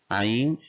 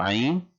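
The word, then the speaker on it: عين: Ain, just like the word Ain is pronounced in the name Einstein. So Ain as Einstein.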